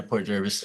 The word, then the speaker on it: Port Jervis: Port Jervis am I saying it right yeah Port Jervis yeah sorry I should have looked at but